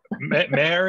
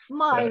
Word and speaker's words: Myra: We have Mare, is it pronounced? I've known you for a long time, but I confess yeah. I think you've mostly known me in writing. Mare. Great to meet you. It's Myra, yeah. Actually. Myra.